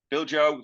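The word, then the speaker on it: Bijlow: this wrong but Justin Bilo 26 as they're expecting Aaron ramsdale to depart now B Joo that's how it's pronounced was linked with Liverpool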